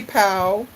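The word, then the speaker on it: pau: pigeon to the max book like we say pow it's spelled PA you but it's pronounced like P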